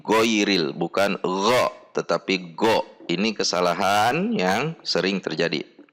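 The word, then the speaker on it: غين: at the makhroj point so that it becomes goin instead of ghoin, but go is a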